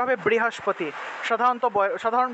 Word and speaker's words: বৃহস্পতি: ঠিক আছে এইভাবে অর্থাৎ এখানে রিকার আছে রিকার আছে মানে এটা বর্গীয় বটা নিশ্চিত এটা বর্গীয় ব এটাকে আমরা সাধারণ বয়ের মতই উচ্চারণ করব আর অন্তস্থ ব আর